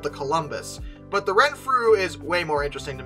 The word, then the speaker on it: Renfrew: The Baron of Renfrew? Is that what? Give me a second. Yeah, Renfrew. Okay. Honestly, I expected it to be pronounced really weirdly, but it really is spoken phonetically, so that's good.